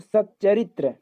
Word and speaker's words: सच्चरित्र: ठीक है, सतचरित्र, तो च का आधा हो जाएगा तो सच्चरित्र।